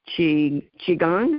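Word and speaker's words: qigong: And uh the chi Chiang, is that how you pronounce it?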